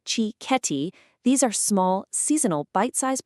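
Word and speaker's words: cicchetti: It's time for chiceti. Pronounced chi ketti.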